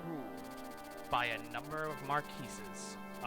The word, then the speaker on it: marquis: These smaller lands are the Lycian League, whose numerous territories are independently ruled by a number of marquises. It's pronounced marquis.